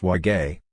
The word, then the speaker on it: wogi: concerns the origins of the word wogi pronounced wage which across much of